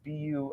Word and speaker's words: Bu: Her name is B-U. I always pronounce it wrong. It's Donna B.